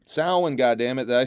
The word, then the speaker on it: Samhain: Did I pronounce Samhain. Samhain, goddammit. Did I say it right? Samhain. NWA presents Samhain, October 28th. Did I say it right? I think I said it right. It's not Sam Hain.